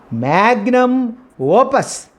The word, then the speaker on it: magnum opus: And next foreign expression or vocabulary is magnum opus. This is the means of a great work. Magnum opus. We should stress second word.